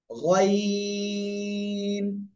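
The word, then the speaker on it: غين: করে তাহলে কি হবে এটা উচ্চারণ হবে ওই গলার শেষ ভাগ থেকে মোটা আওয়াজে তিন আলিফ টেনে উচ্চারণ করবেন গাইন ঠিক আছে গাইন গাইন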